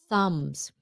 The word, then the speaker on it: thumbs: Thumbs. T-H. Thumbs. Thumbs. Let the air out.